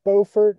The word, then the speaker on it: Beaufort: Doug Vaughn from Beaufort, North Carolina. Doug, I hope you're impressed that I pronounced it the right way.